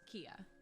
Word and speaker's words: Keia: So it is pronounced Keia? Yeah. Yep. Okay. I wasn't sure if it was Keia or Keia, but now I know. Yep. Just like the store.